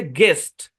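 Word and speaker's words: guest: জি এর পরে ইউ, তারপর ভাওয়াল থাকলে ইউটা সাইলেন্ট। মানে জি ইউ তারপরে যদি ভাওয়াল থাকে, যেমন এটা গেস, তারপর হচ্ছে গেস্ট, তারপর গার্ড, গাইড।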